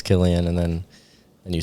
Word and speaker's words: Cillian: Is that how you say it, Killian? Yeah. What did I say? I said Cillian. Yeah. That's actually what I used to say. Then someone corrected me.